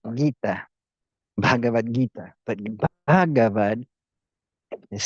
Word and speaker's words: Gita: But maybe Gita, well, in Spanish, you'd have to put a U in front of the G, G-U-E, E, Gueta, like guitar. So in Spanish, it would be done like that. Guitar, you would spell it guita. Like take the R off of guitar, and you'd have the right way of spelling it in Spanish.